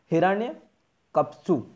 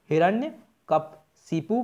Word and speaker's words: हिरण्यकशिपु: फिर बराह अवतार हिरण्यक्ष और नरसिंह अवतार द्वारा हिरण्यकप्सु, सॉरी थोड़ा सा प्रोनाउंसिएशन में प्रॉब्लम हो रही है, हिरण्यकशिपु का वध।